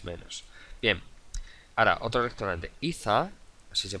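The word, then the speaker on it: Ithaa: Iza, así se pronuncia, es un restaurante underwater, subacuático, es decir, bajo el agua.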